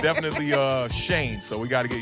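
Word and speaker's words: Schoen: it's our new gm i know it's spelled a little funky but it's pronounced shane i've been seeing people butcher that all really yeah it's pronounced shane it's it's uh german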